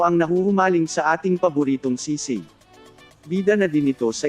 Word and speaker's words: Sisig: Sisig. That's how you say it.